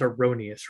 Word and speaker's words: Aronious: how are you i'm doing well it is pronounced erroneous right yeah you got it right right on